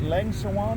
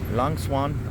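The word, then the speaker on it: Lang Suan: Is it Leng Swan? Is that how you pronounce it? Yeah, she says. Huh? Lang Swan.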